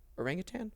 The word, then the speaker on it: orangutan: There's no G at the end. That's the thing people always mess up, right? Like they say like tang. Oh, orangutan. Yeah. It's not tang. Right? It's not, I don't think it's tang.